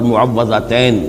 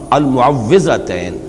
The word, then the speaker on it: المعوذتین: کچھ مشکل ہوتی ہے، عام طور پر معوذتین یہ غلط العام میں اس کا نام مشہور ہو گیا ہے، لیکن اصل میں المعوذتین واو کے زیر کے ساتھ۔ اور اس میں بھی